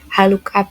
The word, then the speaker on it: HLOOKUP: H look up. Oke. Nah, gini cara bacanya gini. Haluk tolong carikan.